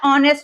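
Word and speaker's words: honest: ही is dash ऑनेस्ट officer. अब आपको पता है ऑनेस्ट यहां पे एच साइलेंट ऑफिसर।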